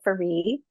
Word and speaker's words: Ferree: I took back my family name a year ago, and so it's now Ferree. It's how you pronounce it, Ferree.